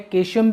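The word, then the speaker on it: caecum: This one is part Sikkim, जिसको कई लोगों की प्रोनाउंसिएशन होती है केशियम भी होती है, और इसके नीचे एक थ्रेड लाइक स्ट्रक्चर होती है जिसको हम क्या बोलते हैं, अपेंडिक्स।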